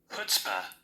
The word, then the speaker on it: chutzpah: The word is spelled CHUTZPAH, and it is a noun, and it says extreme self-confidence or audacity. Okay, and this is how it sounds. Chutzpah. What? Chutzpah. Chutzpah. The C is silent.